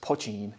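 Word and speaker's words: poitín: pochine means small pot so it's part in pronounced pachine and so yeah they they also do poaching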